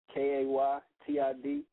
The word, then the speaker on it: Ejukaytid: It's spelled phonetically, how it's said phonetically.